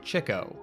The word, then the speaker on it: Chico: And yes, unfortunately, the stage name of Leonard Marx is meant to be pronounced Chico, despite how it's spelled. It's a reference to his perennial pursuit of women, or chicks.